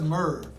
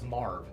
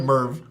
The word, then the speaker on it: Marv: on purpose well that's Merv this is murder no that's Marv oh yeah we're all wrong he just pronounces it Merv it's the Midwest it's the Midwest accent continue did he